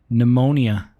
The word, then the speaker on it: pneumonia: the way what's this the p is is ignore pneumonia it's pronounced like pneumonia okay yeah it might